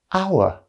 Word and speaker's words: hour: sound so for example in the word our the h is silent so we pronounce it our which starts with a vowel sound so in this case